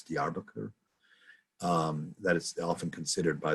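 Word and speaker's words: Diyarbakır: So if you look on a map of southeastern Turkey, the largest city down there is Diyarbakir, Diyarbakir. It looks like Diyarbakir, but it's pronounced Diyarbakir.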